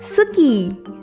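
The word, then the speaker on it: スキー: Ski dalam bahasa Jepang adalah suki.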